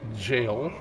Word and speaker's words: Gaol: here we go but g a o l is jail and um I'm going